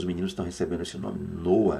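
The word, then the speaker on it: נח: no antigo testamento hebraico o nome deste homem que nós conhecemos no Brasil como Noé é noa tá aí a palavra Hebraica para que você possa entender noa e a quem pronuncie noar dando um tom cultural bem de leve no final noar Ok noar ou noa que é muito comum também Lembrando que o eu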